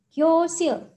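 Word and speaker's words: 교실: Nah, huruf real ini kalau berada di akhir suku kata, bacanya adalah L ya. Jadi dibaca sil, gyosil.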